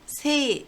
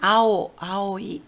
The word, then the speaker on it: 青: 네, 음독으로 읽을 때를 보면은 세이 또는 쇼라고 있습니다. 주로 세이라고 읽으니까 여러분들은 세이를 외워두시면 되겠네요. 청춘을 세이슌이라고 합니다. 세이슌. 그리고 청소년을 세이쇼냉이라고 합니다. 우리나라랑 음이 비슷하죠. 청소년. 훈독으로 읽을 때는 아오이, 아오를 외워두시면 됩니다.